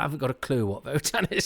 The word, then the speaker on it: WOTAN: Why do they pronounce it Votan? Because it is with a W.